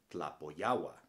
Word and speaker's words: Tlapoyawa: within the word itself you pronounce it pretty much the same way that you would in words like atlanta or atlantic or atlas for example my name is tlapoyawa you've probably also heard